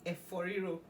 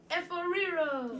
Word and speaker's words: Efo Riro: Okay, so I'm going to repronounce that for you. It's actually Efo Riro. Say that again. Efo Riro.